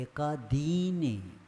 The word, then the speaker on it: एकादीनि: कस्मिन् चतुर्भ्यः एकादीनि नहीं एकादीनि ह्रस्व नहीं दीर्घ है एकादीनि नहीं एकादीनि हाँ क्योंकि दीर्घ है तो दीर्घ ही उच्चारण अपने को करना एकादीनि होने से गड़बड़ हो जाएगा अर्थ दूसरा निकल जाएगा तो एकादीनि भाज्यानि युगपदे